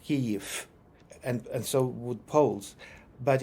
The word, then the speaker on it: Kyiv: So instead of cave, I should say Kyiv. Kyiv. Just make sure there's no f at the end, but just a short u.